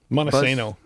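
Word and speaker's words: Montesano: Monoseno.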